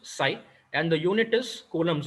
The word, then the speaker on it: psi: the greek letter psi p is silent it is pronounced psi and the unit is